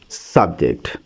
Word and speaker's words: subject: cable end word so if we put the stress on the first cable is you be sub it becomes a n subject but if we add the stress on the second cable jaor it become a verb subject proun sub subject is